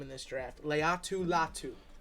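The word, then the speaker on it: Laiatu Latu: this is a great name in this draft Leu latu Leu latu and Edge rusher out of UCLA you know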